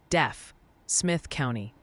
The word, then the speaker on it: Deaf Smith County: The chat jury has reconvened and they're pretty adamant it's pronounced deaf Smith County like hearing loss, not deaf.